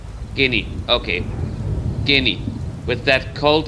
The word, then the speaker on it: Guinea: It's not Guinea. I know it's spelled that way, but it's skinny. Guinea.